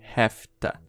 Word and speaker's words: have to: Quando você fala have to rápido, vai soar assim, ó. Hefta, tá? Então, hefta.